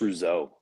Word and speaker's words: Rousseau: It's just Rousseau. Like, wow, there's a ton of extra letters, but it's just Rousseau.